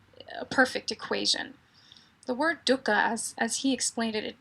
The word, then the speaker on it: dukkha: Well, it's spelled differently in Pali or in Sanskrit. In Sanskrit, it's D-U-K-K-H-A, dukkha.